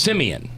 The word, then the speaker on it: Simeon: it right cinnamon no Simon simians it means Simeon thank you and I never heard that story